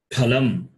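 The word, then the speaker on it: फलम्: But in Sanskritam, it is phalam. Phalam means fruit. In Hindi, the same letter, because Hindi also uses Devanagari script. So in Hindi, it is pronounced as fa. But in Sanskritam, it is pa.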